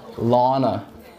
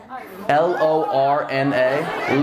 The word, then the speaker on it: Lorna: Lana. Lana. Lana? Lana. Did I not just fucking say that? Spell it. L-O-R-N-A. Lorna. Yes!